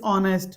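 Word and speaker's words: honest: गरीब है ही इज ऑनेस्ट वो ऑनेस्ट है एच साइलेंट होता है इसमें वह गरीब है वह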